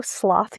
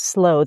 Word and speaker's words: sloth: My husband spent some time in Great Britain, and he always says sloth, and it turns out that both words are correct. You could say sloth or sloth.